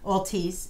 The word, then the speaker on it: Altice: so how you say it Jim I'll teach Altice and that's a cable network and we've just